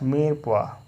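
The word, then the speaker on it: mirepoix: When these vegetables are roughly cut and mixed together, they are referred to as meer poha, pronounced meer poha.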